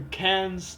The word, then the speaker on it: Cairns: Our fellow Australian Max Ixer is pronounced the Cairns Tigers.